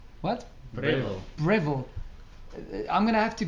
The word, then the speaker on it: Breville: When some I say- say when I some say say Breval, then at least everybody knows how to spell it. You say what? Breville.